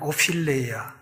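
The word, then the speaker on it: ὀφείλημα: 있는이 죄로 번역된이 말은 오필레아라는 말입니다 F 발음이에요 오필레아이 말은 부채라는 뜻입니다 빛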